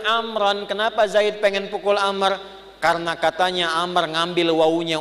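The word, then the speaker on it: عمرو: nahu begitu nanti jadi kalau nanti baca hadis ada wawya maka dibacanya apa Amr Kalau tidak ada wwunya dibaca apa Umar nah yang ini Abdullah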